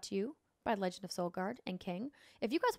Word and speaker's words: Solgard: Solgard. Solgard. So I guard your soul, but it's spelled like the sun and not the thing inside of you.